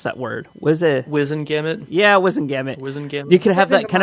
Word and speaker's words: Wizengamot: How do you pronounce that word? Wizengamot? Yeah, Wizengamot.